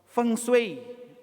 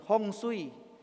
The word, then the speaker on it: feng shui: Hai ahli atau Master fengshui orang nado bilang fengshui atau orang Hokkian bilang hongsui bacanya sebenarnya feng shui Feng itu artinya angin